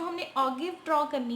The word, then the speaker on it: ogive: को ऑक्टिव बोलते हैं, कोई अजाइब बोल देता है, कोई अजीब बोलता है, तो इनकी प्रोनाउंसिएशन भी डिफरेंट डिफरेंट है, तो हम इसको वैसे ऑगिव ही बोलेंगे, राइट।